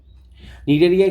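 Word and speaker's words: Cnidaria: আচ্ছা, এরপর আমরা চলে আসবো কিসে, নিডারিয়াতে। ঠিক আছে, নিডারিয়াতে চলে আসবো আমরা, নিডারিয়াতে চলে আসবো। নিডারিয়ার ক্ষেত্রে কি হবে জিনিসটা, আমি যদি চিন্তা করি।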